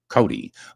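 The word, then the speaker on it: Coday: Cody. Cody. Uh, I always say spelled C O D A Y and pronounced Cody like Wild Bill Cody.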